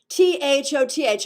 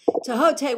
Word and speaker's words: Thoth: pronounce this word t-h-o-t-h i've heard thoth toth toth and tohote and i like to go with tohote but no one ever knows what i'm talking about when i say it because i believe according to all the egyptologists i know and i actually do know some tohota would be the right pronunciation so if anyone can